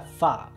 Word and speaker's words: Fa: en Mulan el apellido de su familia se pronuncia fa como es en cantonés la pronunciación correcta en